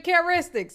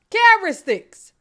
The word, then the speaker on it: characteristics: He got some feminine characteristics. You heard him. Caristics. And and who going to tell him he's saying it wrong?